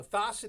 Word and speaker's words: Thosset: Rhymes with faucet. Staying under 10 ticked off for a population that high, I would say that's amazing. Oh, Thosset is death and chaos.